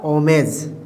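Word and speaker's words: homage: ये क्या हो गया यहां भी एच के बाद ओ है मतलब एच यहां भी साइलेंट हो जाएगा तो ये क्या कहलाएगा ओमेज क्या कहलाएगा ओ मेज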